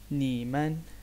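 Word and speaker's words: 你们: Pinin system में इसका क्या बन गया, ये वाला सेलेबल बन गया, और इसकी प्रोनाउंसिएशन ऐसी होती है नीमन, नीमन।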